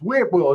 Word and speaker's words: Whitwell: It's it's Whitwell. It's not W. It's W. There's a T in there. Witw will not woo.